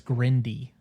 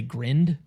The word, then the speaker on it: Grinde: And then Saturday we went and saw a double feature um by a director uh Grand or uh Nicholas Grindy because there was a man in the audience